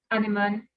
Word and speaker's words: Anémone: Yeah, so you can type Anemone, Anemone in English. I actually have the accent on the E, but on Instagram it's Anemone __ C.